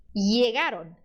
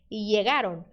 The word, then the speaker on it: llegar: Então, o LL ele pode ter o mesmo som que você dá para o Y. Você escolheu dar para o Y o som do I? Yo, ya comi. Então, o LL para você pode ser som de I. Llegaron, llegaron. Mas você também pode ter som de J. Llegaron. Som de DJ. Llegaron. Ou SH. Chegaron. Tá?